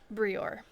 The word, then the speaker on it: Brior: Brior. Brior. Like Eeyore.